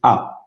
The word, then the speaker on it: ha: We will use the same verb form, which is a. Pay attention to the H because we don't pronounce it. So it sounds like the vowel.